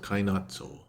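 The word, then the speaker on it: カイナッツォ: So in Japanese, it's called Kainatzo. That's how you pronounce it.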